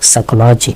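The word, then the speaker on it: psychology: সাইকোলজি, সাইকোলজি মানে কি? মনোবিজ্ঞান, এবং আমরা জানি বিয়ের উচ্চারণ হয় না।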